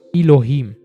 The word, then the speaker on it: Elohim: pronounced meaning i am the word god is elohim pronounced elohim which is a compound unity